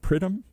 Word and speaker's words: Pridham: David and I forgot to ask how to pronounce his name is it is it prym is that did I say even close here